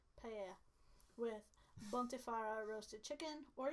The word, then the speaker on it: paella: You pronounce the L's as a A. Paella. Paella.